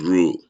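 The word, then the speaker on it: ρ: can as PB but that P is pronounced as row row b the small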